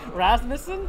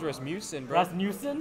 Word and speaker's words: Rasmussen: last name what Rasmussen I cannot pronounce that Rasmussen yeah okay okay it's not hard I don't know everyone says rismusic oh he's dead he's